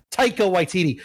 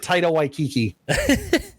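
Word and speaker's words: Taika Waititi: you say his name tycho waititi i said title waikiki i mix vowels all the time take a white td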